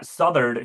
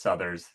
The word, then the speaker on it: Southerd: Um Yeah, Southerd who told me that I've been mispronouncing his name as Southers uh this entire time um wasn't here I think last week.